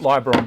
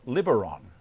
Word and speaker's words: Liberon: I call it Liberon because it's only got one B after the the vowel. So if it was double B, I would call it Liberon.